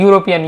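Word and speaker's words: European: यूरोपियन या या से उच्चारण होगा यानी अ ए आएगा आपका।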